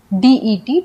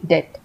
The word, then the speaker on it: debt: डेट में B silent है, इसे हम डेप्ट नहीं पढ़ते हैं, हम लिखते DEBT है, लेकिन डेप्ट में जो B होता है वो साइलेंट होता है, हम इसे पढ़ते हैं सिर्फ DET, डेट।